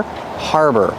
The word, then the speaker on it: harbor: is a harbor pronunciation use the r sound like far and car har and the second syllable is er like Burger together Harbor this is a harbor it's